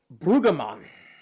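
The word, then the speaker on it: Brüggemann: ALZER by Werner Brueggemann. Spell that?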